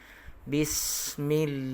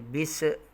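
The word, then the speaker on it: بِسْمِ: Bismi. Okey, dibaca dengan bismi dan tidak boleh dibaca dengan mengadakan ataupun ada pantulan suara di sini, iaitu kalau kita baca bisa, maka keadaan bacanya adalah salah. Okay.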